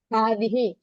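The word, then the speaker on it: هذه: ഹാദിഹി ഹ കഴിഞ്ഞിട്ട് നീട്ടരുത് ഹാദിഹി ഹ കഴിഞ്ഞിട്ട് ദ ഇട്ടിട്ട് എഴുതാ അത് ഉച്ചാരണത്തിൽ മാത്രമുള്ള നീട്ടൽ ആ നീട്ടൽ ഇല്ല എന്നുള്ളത് മനസ്സിലാക്കുക അപ്പം ഹാദ എന്നുള്ളത് പുല്ലിംഗത്തെ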